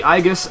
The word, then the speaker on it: Aegis: however you pronounce it the aigus of or the Aus whichever you prefer pretty sure it's aigus the aigus of Uruk and this